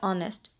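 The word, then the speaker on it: honest: ऑनेस्ट में H silent है, हम बोलते हैं ऑनेस्ट, यानी ओ साउंड आ रही है जो कि वॉवल साउंड है, तो उसके साथ फिर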